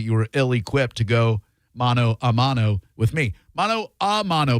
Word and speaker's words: mano a mano: If you say mano e mano, you are saying it wrong. Many people say mano e mano. Okay? That means hand and hand combat. You want mano a mano, like hand-to-hand combat.